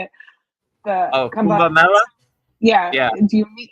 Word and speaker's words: Kumbh Mela: Do you go to Kambala? How do you say it? The Oh, Kambala. Kumbh Mela.